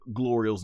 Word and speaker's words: Glorio: So Son Goku comes flying back and he's like thanks Glorio which he's been constantly mispronouncing Glorio's name through this whole time.